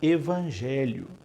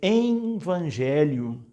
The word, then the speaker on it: evangelho: um erro a palavra evangelho Eu já ouvi muita gente sobretudo liderança Pastoral dizendo envangelho como se tivesse entre e o e o e o